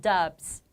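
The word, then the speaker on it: dubs: 더빙 에서 ' b' 는 유성음 입니다 . 그러니까 's' 를 'z' 처럼 발음 해서 " 덥스 " 라고 하세요 .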